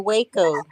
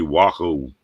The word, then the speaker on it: Waco: way cool texas wacko is it wacko or waco sometimes it's wacom sometimes waco it's really wacko there was an indian